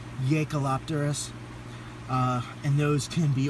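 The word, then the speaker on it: Jaekelopterus: largest one I believe it starts with the Y sound it's spelled j-a-e so I believe it's yakalopterus uh and those can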